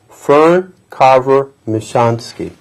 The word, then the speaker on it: Fern Michonski: the author and we have with us today Fern Carver michansky how are you Fern very fine thank you get that pronunciation correct you did excellent yes indeed fern